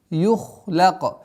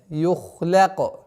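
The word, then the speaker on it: يُخْلَقْ: Аллати лам юхлака. Ха твердый звук, лям мягкий. И поэтому после твердого звука ха, лям должно произноситься мягче. Юхлака, ла, нет, юхляка. Здесь у нас мягкий, твердый.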